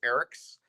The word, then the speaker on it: Eriks: you and the listeners my first name has an S on the end of it so it's Eric's uh if you were